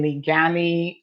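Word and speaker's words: Liguanea: Evelyn has just told me how it's properly pronounced. So that is in Ligani, Jamaica, a purse snatcher at a plaza in St.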